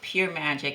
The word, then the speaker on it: Pyoor Majik: name in your business it's called pure magic it's a play on